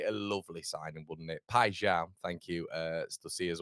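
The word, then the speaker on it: Paixão: But yeah, let's Lee Sussy says, "Connor, the first syllable in piao is pronounced pi, not pay." Thank you, mate. Okay, so we'll go piao.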